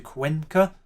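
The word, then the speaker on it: Cuenca: Fati is still on the pitch and has headed that down to Quenca, because you must mostly pronounce it with a soft C.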